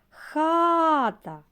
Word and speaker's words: хата: разом Тарас правильно другий вимовимо слово хата який склад наголошений хата перший склад наголошений а в слові